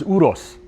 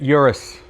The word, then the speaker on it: Urus: And and by the way, the pron the the correct pronunciation of the car is uros. Um but as lazy Americans, we'd say it Urus.